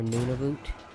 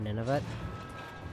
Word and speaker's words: Nunavut: And I personally am not actually old enough to remember when Nunavut, or Nunavut, I usually pronounce it Nunavut, became one of the territories, because it became a territory when I was like...